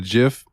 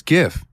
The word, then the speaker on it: GIF: like no dude it's GIF he's like oh Where Are You Gonna Write a graph good Lord comes out and tells me it's pronounced with a J I will tell him